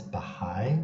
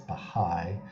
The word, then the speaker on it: Baha'i: forms of religious observance people who identify as baha'i this will come up in the cleavages section